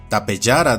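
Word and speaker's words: Tapejara: Y aquí unos ejemplos más donde la J se pronuncia como una Y, incluyendo nombres donde el origen etimológico no es grecolatino, donde tenemos a Rayasaurus de origen hindi, Tapeyara de origen tupí, Locotunjailurus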